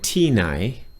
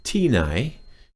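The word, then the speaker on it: ที่ไหน: And the tones, T is falling and nai is rising. Tinai. You've got to get those tones right, or the Thai won't understand what you're saying.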